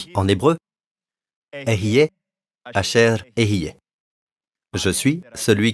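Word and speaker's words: אהיה: » En hébreu, Ehyeh, Asher, Ehyeh.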